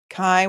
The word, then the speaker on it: Kai: Kai, why my rhymes with shy?